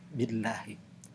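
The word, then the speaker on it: بالله: Tu'minuna billahi, maka lamnya itu dibacanya adalah tarkik, yaitu tipis, billahi.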